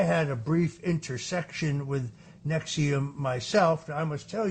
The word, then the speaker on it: NXIVM: It was the deep investigative reporting of Frank Parlatto uh that brought down the Nexium sex cult that's spelled NXIVM for those who are unfamiliar with it.